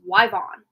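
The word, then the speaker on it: Yvonne: but ion uh but her name was pronounced wyvon and it was spelled y v o n n e I think yeah interesting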